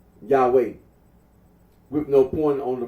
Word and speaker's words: Yahweh: yahi the scholarly consensus is that the original pronunciation of the T gron was yahwe are Aro agrees that when in the LA